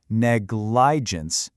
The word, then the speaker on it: negligence: If we try to sound that out, negligence, that doesn't sound quite right, does it? That I in the middle isn't a long I sound.